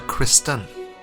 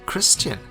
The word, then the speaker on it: Kristen: is of my lady his name is Sir Kristen Kristen she repeat it trly I always thought it was Christian I've been calling him